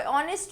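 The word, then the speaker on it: honest: clear, now ऑनेस्ट में क्योंकि एच की ध्वनि साइलेंट है, नाउ एन का प्रयोग,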